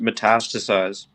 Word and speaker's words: metastasize: So, it's pronounced metastasize and it's what did I say?